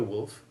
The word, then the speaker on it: Woolf: you repeat those words and note the surnames wolf and cook as in virginia woolf and captain cook listen now to a